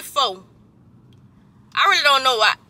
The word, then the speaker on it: pho: pull up to the fa spot. Fa, fa. I say fo. I really don't know why. I think it's fa, fa, but it just spelled fo, like phobia.